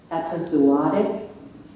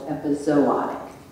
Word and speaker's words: epizootic: l l o i your word has two pronunciations and I'm going to give you both of them before you start epizootic or epizootic eptic EP epizootic or